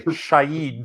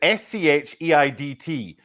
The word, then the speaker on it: Scheidt: He got 3 Brazilian caps, and it's Scheidt. The pronunciation in Glasgow, Tim, was not Shahid, because I tried to commentate on him.